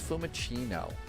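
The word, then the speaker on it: Fiumicino: Let's go ahead and jump off and jump in real fast so that we get fumicino or fumachino. It's a hard C, not a soft C. So, it's fumccino and main menu and main menu.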